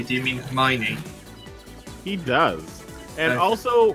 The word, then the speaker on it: Hermione: Harmony, do you mean Hermione?